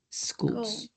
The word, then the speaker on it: schools: Okay, we need to be careful with the S because you are pronouncing the letter E. So you just say schools.